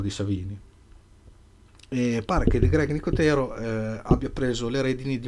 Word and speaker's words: Nicotero: greg nicotero greg nicotero chiamiamo battezziamo una un accento diciamo unico tiro anche perché non so suppongo che gli americani lo chiamano così si fosse più facile che gli americani mettono l'accento in fondo diciamo nicotero diciamo nicotero che famoso artista e